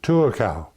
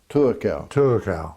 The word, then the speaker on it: Tuakau: but for the first 12 or 13 years, I lived in the little town of Tuakau. Tuakau.